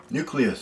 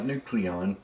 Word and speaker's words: Nucleous: And here we have nucleus. Nucleus. I said it right. Nucleus on the reviewing area. Not nucleon. Nucleus. Right.